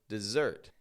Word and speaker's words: dessert: It has 2 S's, but we don't say dessert, but dessert. This is because there are lots of words in English where the S sounds like a Z.